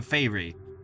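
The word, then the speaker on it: faerie: Uh, spelled like f a e r i e. You know, fy.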